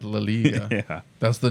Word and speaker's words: La Liga: La Liga. Anyway. No, we got to teach this guy some culture. I is pronounced as E in I mean, we do the same thing in English.